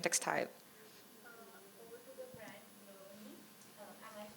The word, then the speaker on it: Bloni: Over to the brand Bloni. Am I pronouncing it right? Bloni.